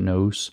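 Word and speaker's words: νοῦς: the Noose in Greek uh they usually pronounce it noose but I think it's clearer if I actually overcooked the vowels and call it nose so we can hear what I'm saying and ous is how it's spelled in Greek I know I'm mispronouncing it but I think it makes it clearer so I'm doing it on purpose and I'm probably going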